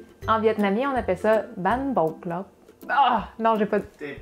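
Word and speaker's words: bánh bột lọc: Mais c'est un thé. C'est un thé, mais ça se prononce pas tant. Ban bột. En vietnamien, on appelle ça ban bột lauc.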